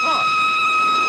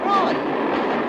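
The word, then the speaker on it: Froy: My name's Troy. Did you say Troy? No, not even Lina. Troy. Sorry, I can't hear. It rhymes with joy.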